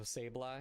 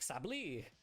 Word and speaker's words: Sableye: crisp looking cosmos hollow sableye i wonder if anybody pronounces that wrong just like sabli i love me some